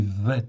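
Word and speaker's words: ב: bête en fait ici, que l'on peut prononcer vet effectivement, parce que la tradition rabbinique fait que le bet en fait ici peut être prononcé comme un V. Mais en réalité, étymologiquement, ou sont les racines hébraïques de la foi, c'est bien un bet.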